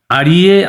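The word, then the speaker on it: आर्ये: দেখো, বনদেবতা আড়িয়ে আত্রেয়ী, এটা কিন্তু উচ্চারণটা আড়িয়ে হয়, আর্যে না। বাংলায় আর্যে বলতে পারি, কিন্তু সংস্কৃতে আড়িয়ে।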